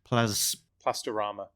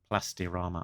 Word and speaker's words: Plastirama: She was an exclusive figure available in Argentina from Plastorama. Plastirama. I was going to pronounce that wrongly.